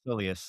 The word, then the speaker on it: soleus: Soleus strain? Soleus? Yeah. Yeah. Yeah, That's yeah. how I've been saying it. It's Soleus.